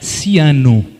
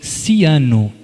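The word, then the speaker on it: Siano: Paulo se escreve P-A-O-L-O, Maria é igual a português, e depois Ciano, S-I-A-N-O.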